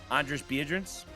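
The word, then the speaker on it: Andris Biedriņš: Andris Biedrins.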